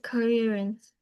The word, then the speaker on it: coherence: Uh fluency and coherence. Coherence. Can you say that, please, Ngoc Anh? Coherence. Coherence. Yeah. Just divide the word into two parts, Ngoc Anh. Co and herence.